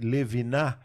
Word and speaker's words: Levinas: Eh, Levinar, Levinar, ele dizia a respeito da da problemática do R, você pronunciou corretamente Leviná, mas na verdade tem um S no fim, né?